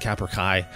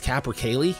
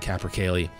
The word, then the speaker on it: capercaillie: I think I'm saying it wrong. I was saying capercai. I thought the L's were silent. I was totally wrong about that. I think it's capercaillie.